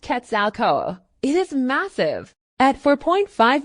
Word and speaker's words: Quetzalcoatl: The Great Pyramid of Cholula is said to have been constructed in honor of one of the Central Aztec gods, Quetzalcoatl, pronounced Quetzalcoatl.